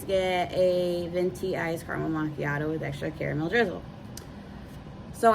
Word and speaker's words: macchiato: And I said, "No, that's not how you say that." I was dying laughing then too. And she goes, "Oh, well, how do you say it?" And I said, "It's a macchiato."